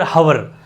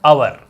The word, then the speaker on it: hour: जबकि ये है क्या, आवर। बहुत बड़ी चीज है ये, इसको आवर बोलना। हवर बोलोगे तो गलत ही होगा, कुछ तो प्रोनाउंसिएशन ठीक कर लेना।